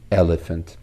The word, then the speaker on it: elephant: P is pronounced as P and H is pronounced as H. But when they come together, when we form a blending, so they get a third sound, F sound.